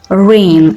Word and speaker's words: reign: careful of the pronunciation rain so g is a silent letter terrain a domini for